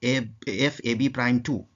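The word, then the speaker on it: F(ab')2: इसको प्रोनाउंस किया जाता है कि एफ एफ ए B prime to ये जो लिखा है इसको प्रोनाउंस किया जाता है एफ एबी प्राइम टू।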